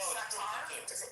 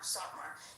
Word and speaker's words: Satmar: The Sartar, is it called like the Sartar? How do you say it? Most of the Satmar Hasidim live in Williamsburg. Satmar. Yeah, it's Satmar.